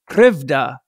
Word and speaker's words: Krivda: an incredible book called krevda she taught me how to say it it's the book is krivda the god tricks against